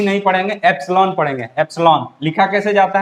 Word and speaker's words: epsilon: इसको डिनोट कैसे करते हैं, ये इसको हम लोग ई नहीं पढ़ेंगे, एप्सिलॉन पढ़ेंगे। एप्सिलॉन लिखा कैसे जाता है, एस के बाद आई रहता है, एप्सिलॉन, मतलब प्रोनाउंसिएशन क्या है इसका, एप्सिलॉन।